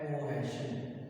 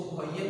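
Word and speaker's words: cohesion: दूसरी का नाम है कोहेशन। इसको कोहेजन भी पढ़ा जाता है, कोहेजन force, force of कोहेजन या फोर्स ऑफ कोहेशन, आपकी अपनी प्रोनाउंसिएशन है, जिस तरह मर्जी कर लें।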